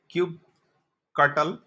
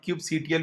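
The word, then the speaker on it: kubectl: Next step में हम क्यूब कटल या क्यूब सीटीएल भी बोल सकते हैं, लेकिन मैं तो क्यूब सीटीएल ही बोलता हूँ, लेकिन मैक्सिमम वीडियो और जगह में लोग प्रोनाउंस इसको करता है क्यूब कटल।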